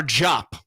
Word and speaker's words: Diop: Matar Diop. D-I-O-P. Not Diop, but Diop is how you say that last name.